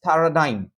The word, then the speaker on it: paradigm: reiterate reiterate Paradigm Paradigm so you pronounce this as Paradigm OKAY model or pattern